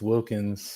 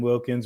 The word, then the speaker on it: Wilkins: Sorry, I kept saying Wilkinson. It's Wilkins.